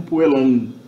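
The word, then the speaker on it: puellam: pronunciado, mesmo na antiguidade, esse M era pronunciado meramente como uma nasalização da vogal precedente. Então, puelam, provavelmente já Júlio César pronunciava isso meramente como puelam.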